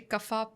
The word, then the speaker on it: kapha: We say kaf, pit, vat. But it's actually kapha, pitta, vata, dosha.